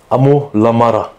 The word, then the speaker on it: Amo La Mara: Was bedeutet Amol Amada, Amol Amada und wie spricht man den Namen aus? Amol Amada.